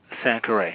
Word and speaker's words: Sankore: And the institute, am I pronouncing that correctly? Is it Sankore Institute? Sankore, yes.